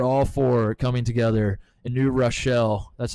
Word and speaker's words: New Rochelle: we have New York City Catholic Church, Adidas, and Rick Pitino are all four coming together in New Rochelle.